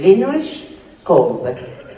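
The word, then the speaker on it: Winrich Kolbe: That's how you say it. Heinrich Kolbe, German.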